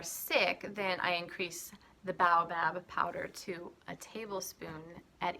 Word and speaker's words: baobab: that right now okay turns out I was saying it wrong babe oh babe it's baobab baobab did you hear that one more time baobab so that's baobab